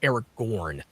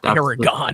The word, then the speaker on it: Aragorn: Well, it's actually pronounced Aragorn, not Aragorn. I call him Aragon. It's not Aragon.